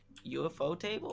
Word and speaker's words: Ufotable: UFO table makes a lot more sense, but they put it as one word, so I pronounced it out the whole way.